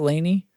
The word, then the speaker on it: Laney: the Laney so how do you say that Laney Laney yeah yep so the Soldano SLO 100